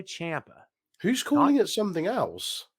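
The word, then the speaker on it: Ciampa: tv and on podcasts i don't know how to pronounce it it's champa it's fine call him whatever you want but out straight out of the guy's mouth himself is tommaso champa who's calling it something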